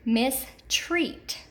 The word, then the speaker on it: mistreat: And then we have an example of an EA pattern that's accented in the second syllable, and that word is mistreat.